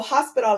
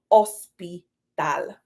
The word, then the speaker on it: hospital: emphasis on the H but the H in Spanish is silent so hospital in Spanish is ospital okay so these are